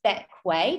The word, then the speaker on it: Bequia: after how do you pronounce it so it's pronounced back way despite being spelled more like the queer is